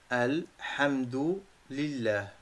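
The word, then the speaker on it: الحمد لله: Alhamdu lillah. Vous avez le prononcé comme s'il y a 4 mots. Alhamdu, avec le H expiré dans la gorge d'une façon aiguë.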